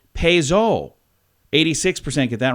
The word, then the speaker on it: Peugeot: Peugeot, or however you say it, is actually Peugeot.